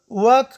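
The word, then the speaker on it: walk: ال توری کله چې د کې توري څخه مخکې راشي نه تلفظ کېږي، لکه ټاک. ټاک یعنی خبرې کول. واک قدم وهل.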